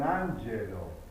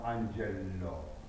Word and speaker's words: Angelo: de dire Bella si un Angelo non Ango c'est un seul l hein faire attention à ces